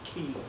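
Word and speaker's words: χ: it's as far as the games are concerned, that X-like symbol is actually pronounced key.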